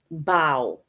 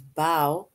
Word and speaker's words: bow: bow or b-o-w is Bao which rhymes with how and bow for girls